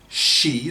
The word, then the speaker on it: Xi: today of china's president xi in brackets pronounced she that's spelt x-i as in he and she jinping was of the